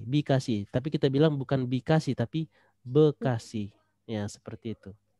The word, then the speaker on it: Bekasi: Bekasi Tulisannya B kasih Tapi kalau kita baca jangan-jangan baca beekasih bacanya Bekasi tetap ia Bekasi nya tapi